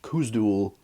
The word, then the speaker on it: Khuzdul: you do have it for example the word for the dorvish language kusdul there's a z there so you pronounce it like Z he also mentions and